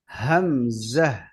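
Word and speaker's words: همزة: হা হামজা, হামজা হামজাটা আমরা ভিতর থেকে বাতাস নিয়ে ছেড়ে দেব।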